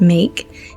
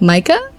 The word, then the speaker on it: Meike: pronouncing her name as make it is actually like Micah supposedly I looked up how